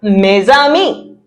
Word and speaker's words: mes amis: If it's with friends, je passe le Noël avec mes amis. Mes amis, my friends. Mes amis, but we do a liaison.